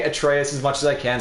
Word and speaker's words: Atreus: If we're using Germanic phonetics, even though Atreus is clearly a Latin name, it would be Atreus, with the stress on the first syllable.